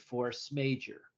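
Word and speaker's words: force majeure: may have heard it Force Major right it's pronounced major even though it's you know spelled that way it's a clause it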